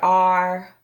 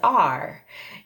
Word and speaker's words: are: saying this word says are, and it's spelled A-R-E. Now we want to say that A-R makes the R sound, right? R. And then the E is silent.